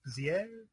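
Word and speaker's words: Béziers: Menard mayor of bers I believe it's pronounced bizier whatever uh there's a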